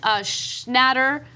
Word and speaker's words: Schnatter: during a conference call John Schnatter I like a shoe matter that is how his name should be pronounced this sucks so much